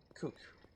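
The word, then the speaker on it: cuke: C-U-K-E. Kook. Right? That's how most normal people would pronounce that.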